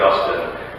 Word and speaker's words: Augustine: The great church father and theologian St. Augustine, which by the way is the correct way to pronounce that, famously said, "God has